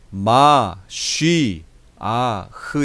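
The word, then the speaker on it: מָשִׁיחַ: 발음 이구요 원래 발음이 있어요 히브리어 에 원래 발음은 마 쉬 아흐 에요 맛이 아 맛이 아 교육을 가깝게 발음하면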